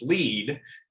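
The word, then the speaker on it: LEED: conversation where this broker doesn't even know the acronym is pronounced lead then this conversation is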